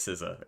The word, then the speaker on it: SZA: Okay, it actually is Siza.